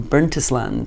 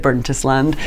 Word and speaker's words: Burntisland: on the radio once talking about someone from burntisland and it's pronounced burnt Island and no one told me and everyone was laughing and they just let me go on about bernst land so hopefully there won't be an equivalent tonight